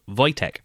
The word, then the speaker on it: Wojtek: Over the 2024 Christmas period, I came across a short animated film called A Bear called Voytech. That's spelled W O J T E K.